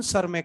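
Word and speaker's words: Tschermak: Eric von शेमैक। T silent, Eric von सरमैक नाम बोलते हैं।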